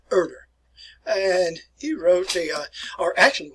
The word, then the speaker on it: Herder: Johann von Herder. Now, in German, very often you make the H sound silent. So, Johann von Herder.